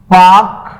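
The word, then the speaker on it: Palk: तो यहां पे एक वाटर स्टेट है जिसको आप जल डमरू मध्य बोलते हो, जिसे बोलते हो पाक जल डमरू मध्य। याद रखना, पाक स्पेलिंग ऐसे लिखते हो, पाल्क।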